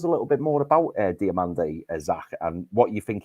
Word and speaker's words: Diomande: First of all, it's Ousmane Diomande, not Diomande. There's no accent on the last E.